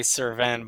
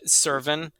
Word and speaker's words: Cerven: it one more time Servin kind of like an like an in at the end um that's just how I say it though suren is honestly probably like the proper way to say it um that it sounds